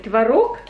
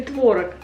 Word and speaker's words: творог: Как правильно говорить, творог или творог? Многие говорят творог, но мне не нравится это слово, поэтому я говорю творог.